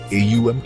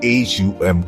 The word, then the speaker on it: ॐ: गहरी सांस लें और धीरे धीरे AUM का उच्चारण करें। अ ध्वनि को अपने पेट से शुरू करें, ऊ ध्वनि को अपने सीने तक लाएं और अम ध्वनि को अपने होठों से बाहर निकालें।